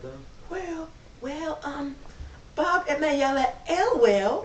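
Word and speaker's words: Ewell: Okay, on to Mayella Elwell. Well. Elwell. The E is silent, it's just Well.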